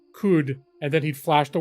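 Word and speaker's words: Qud: coock yeah that's right well it's caves of could and could could is q u d so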